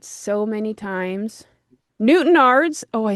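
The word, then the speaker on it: Newtownards: Newtonards Oh, I said it right. Newtonards counting down Ireland, a man who would later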